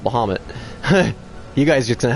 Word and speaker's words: Bahamut: I know it's Bahamut, but that doesn't roll off the tongue, so I call it Bahamut.